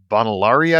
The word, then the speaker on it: Bonilauri: last name too badly bonari I believe is the correct pronunciation that's perfect thank you